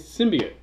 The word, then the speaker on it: symbiont: even say it right no it's symbionts Ennis yeah yes him by oh damn it no no no no no symbian it's one word it's not three it's one word symbionts how do we know